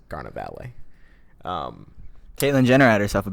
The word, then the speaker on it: carnevale: So it's like farewell to meat, and it's basically like traditionally in like medieval times, carnevale, that's how you say it in New York. Italian is carnevale.